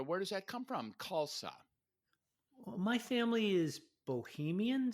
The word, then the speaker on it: Khalsa: pronounce your last name kalsa like salsa like salsa okay but it starts with KH right yeah the H is silent and of course the